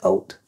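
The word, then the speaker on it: haute: but most people say heart hope it's French in the French don't pronounce the h if it's in front of a vowel so a silent it's just oat and you speak French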